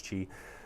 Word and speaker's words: chi: idea of chi energy ki or chi in japanese it's key in chinese it's chi um but this qi energy